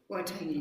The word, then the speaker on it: Waitangi: Waitangi Day.